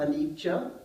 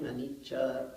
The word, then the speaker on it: anicca: to actually learn the PO uh so uh anicha most of you know that can you say it an du right k k this is the poly pronunciation so duka is usually translated as suffering anicha impermanence and anata no self these are the